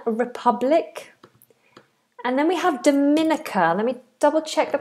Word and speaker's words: Dominica: And then we have Dominica. Let me double check the pronunciation of this. I didn't know there was a a Dominica.